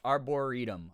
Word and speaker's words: Arboretum: The way the Dallas Arboretum is pronounced is Arboretum.